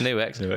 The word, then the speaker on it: Nux: It's New X. Although it's Nux, but apparently it is New X, yeah.